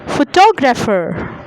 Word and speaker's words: photographer: The second example is photographer. The middle part is stressed.